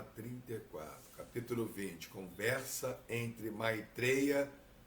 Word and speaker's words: Maitreya: O nosso vocabulário tem a vogal aberta, mas o sânscrito não tem. O sânscrito não é e. O não é o, é o. Então, não estou pronunciando de forma errada.